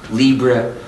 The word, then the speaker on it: libre: We are starting to use the French or Spanish word libre. I'm pronouncing it anglicized, as a way of saying free as in freedom, to make it more clear.